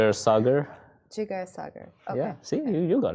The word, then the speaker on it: Jigar Sagar: to share it with us stay tuned uh jigar cagar am I pronouncing that correctly that's why great because some people here um AKA English expats tend to mispronounce every single name it's Sager jiger Sager okay yeah see you got it okay cool